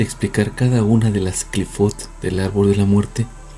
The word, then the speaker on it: Qliphoth: que presenta a as cfat es como se pronuncia en singular o cfot es como se pronuncia en plural también se les denomina